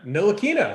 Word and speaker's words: Ntilikina: Hey, nice job on the pronunciation there. Ntilikina.